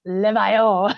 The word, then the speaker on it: Levaillant: in absolute horror, it is not Levaillant's, it's Levaillant.